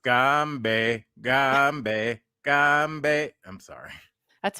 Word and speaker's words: Gombe: it's pronounced Gombe, Gombe, Gombe.